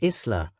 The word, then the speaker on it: Isla: Jill shared that Isla, pronounced Isla, is a family name meaning devoted to God, while Marie is also a family name meaning wished for child and beloved.